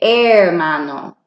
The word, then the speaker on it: hermano: saying brother or sister you don't pronounce the H so you just say hermano oh okay we're all